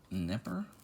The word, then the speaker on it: Knepper: key many Lee Bob Knepper assuming that's a silent K some funny names this